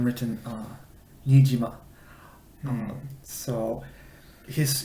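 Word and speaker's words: Neesima: his name written uh nijima so his his preferred pronunciation of his name was nishima but when you see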